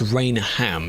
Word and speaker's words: Rainham: As with most things, it's not pronounced Rainham. You just smush the symbols together, so just Rainham. Anything ending in ham becomes It just does. That's just how it works.